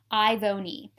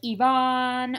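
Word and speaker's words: Ivone: And it's literally spelled like you say all the vowels and you make the sounds of the consonants. Ivoni. And everyone does like Yvonne or Ivan or Ivoni.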